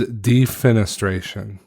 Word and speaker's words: defenestration: to go back and edit the actual correct pronunciation is defenestration it is the act of throwing a person